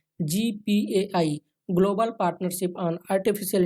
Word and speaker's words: GPAI: artificial intelligence जी पीएआई इसको हम लोग शॉर्ट में जी पे बोलेंगे क्योंकि ऑफिशियल भी इसको जी पे प्रोनाउंस किया गया है दोस्तों 12